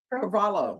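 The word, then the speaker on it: Carvalho: Carvalo. Yes, ma'am. Oh, okay. So the H is silent.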